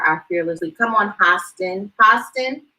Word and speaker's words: Hostin: were reaching him and it's pronounced Hostin, like hostile, the sound. Gotta look out for our fearless lead. Come on, Hostin, not hosting, Host.